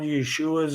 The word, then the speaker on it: Yeshua: the messiah jesus christ they're called yeshua's is how you say it in hebrew they call you know